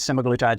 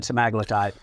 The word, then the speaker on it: semaglutide: uh about gp1s particularly um and I I pronounce it both ways semaglutide semaglutide uh I'm not even try yeah yeah yeah